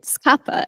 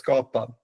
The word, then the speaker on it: Skapa: pronunciation but I didn't is it scappa is it how you say it I think we will get to that but it's scopa which means create in Swedish okay so sorry